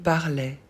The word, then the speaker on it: parlait: On ne prononce pas le T.